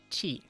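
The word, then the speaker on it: ち: the backwards five and this one is chi chi like the ch in itchy it itchy it's more it has the eye at the end um but you can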